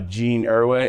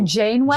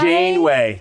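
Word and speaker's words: Janeway: the kids oh yeah so which had uh Jean erway in it or what what's no I'm saying it wrong I'm not sure what you're trying to say so uh captain's name oh Jane way Jane way thank you I was likey M shout out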